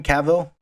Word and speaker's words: Cavill: rumor, at some point at time when Henry Cavill, right? That's how you say it, Yeah, Henry Cavill. Henry Cavill. Henry, Either pronunciation.